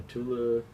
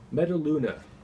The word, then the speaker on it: Metaluna: island Earth met met I always pronounce it wrong metula metaluna metaluna the mutant from the